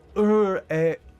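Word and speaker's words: Iriaebor: Oh, they do have a phonetic. Uriabor. Oh. I guess that's how you would pronounce it.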